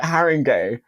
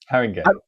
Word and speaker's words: Haringey: Haringey? Haringey.